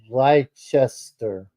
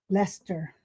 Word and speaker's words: Leicester: Leicester, Mhm.